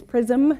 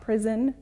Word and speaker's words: PRiSM: errs specify remember Evans pronunciation is prism not prison I call us prisoners